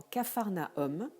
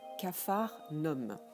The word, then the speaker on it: capharnaüm: le u comme dans capharnaüm qui permet là aussi de séparer la prononciation du du reste de la syllabe s'il n'y avait pas le tréma sur le u ça se prononcerait qu'un phare l'homme vous n'aurez pas souvent